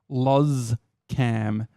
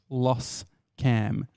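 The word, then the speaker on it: Loscam: for by the way I've always known it to be pronounced laws cam not loss cam you bunch of Gronk's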